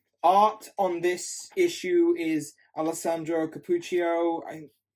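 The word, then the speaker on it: Alessandro Cappuccio: on this issue is alesandro capucho is how it's pronounced it looks really good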